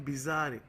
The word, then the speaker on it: bizarre: एक और वर्ड है इसी का क्वीर जैसे ही, उसको बोलते हैं हम बिजार, है ना, स्पेलिंग होती है BIZARRE, बिजार बोलते हैं उसे, ठीक है।